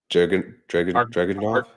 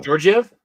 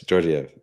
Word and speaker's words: Georgiev: Is it Dragunov? The goalie for who? Colorado. Georgiev? Yes, Georgiev.